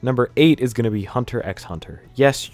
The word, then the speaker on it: Hunter x Hunter: eight is gonna be hunter x hunter yes you pronounce the x in between the hunters i adore hunter x